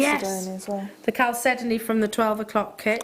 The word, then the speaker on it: chalcedony: nice with the chalcedony Yes. as well. The chalcedony from the 12 o'clock kit.